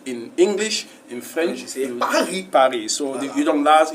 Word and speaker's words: Paris: like when you say Paris in English in French Paris so you don't last you don't pronounce the last consonant but in English you